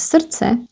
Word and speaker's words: srdce: The D here is not pronounced, so it's srdce. And then we actually remove all of these. We remove c-e. Srdce, srdíčko.